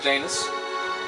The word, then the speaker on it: Janus: Okay, I've been pronouncing it right, Janus. It rhymes with anus.